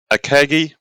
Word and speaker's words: Akagi: border models are releasing in 1-35 scale the akagi is that how you pronounce it uh yes the ikeji bridge with